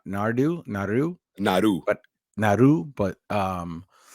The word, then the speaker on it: Naru: as Naru or they say it's actually properly pronounced like n nardu Naru Naru but Naru but um and and that